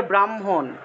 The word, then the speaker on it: ব্রাহ্মণ: মনে করেন যে ব্রাহ্মণ, ব্রাহ্মণ শব্দটা, এই ব্রাহ্মণ শব্দের ক্ষেত্রে যে বটা আছে এটা হলো বর্গীয় ব, এটাকে সাধারণ বয়ের মতোই উচ্চারণ করতে হবে।